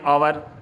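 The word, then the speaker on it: hour: अब एक थोड़ा सा नोट लिख के मैंने बताया है, यहाँ पर एन का प्रयोग ऐसे वर्ड के पहले भी किया जाता है जो म्यूट में, मतलब बिल्कुल साइलेंट है, जहाँ पर एच बिल्कुल साइलेंट है और उनसे शुरू हो रहा हो।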